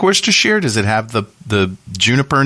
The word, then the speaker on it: Worcestershire: Worcestershire, as the Canadians taught me to say it.